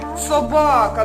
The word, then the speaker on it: собака: на 17 перше е собака наголос на другий склад поставили А тепер давайте